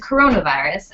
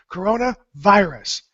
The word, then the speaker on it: coronavirus: ringing in my head Corona is a beer in the United States a very popular beer and it's actually from Mexico but the same pronunciation Corona virus and the reason we